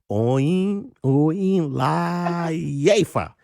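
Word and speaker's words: Oyinlayefa: The way you see it, that's how you pronounce it. It's as easy as that.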